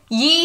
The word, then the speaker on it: ye: So if read correctly, ye is pronounced just like the word thee.